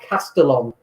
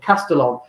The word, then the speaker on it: Castellón: of Valencia and we're in a place called castellane is how you say in English English in Spanish it's caste on double alley we don't pronounce of castellón and we were looking at some of the